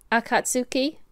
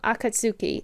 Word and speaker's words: Akatsuki: oh it I went to Google how to pronounce this I've cut Sookie at cuts Akatsuki it's all English of Japanese words or Chinese